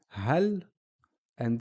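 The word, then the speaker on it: هل: So here we can see the word hal, and here with a fatha on the lam, it's hala. Hal, hala. So you notice on the lam, we are only pronouncing the sound of the actual letter. It's half a sound. It's not a la like here, ha, la. It's hal.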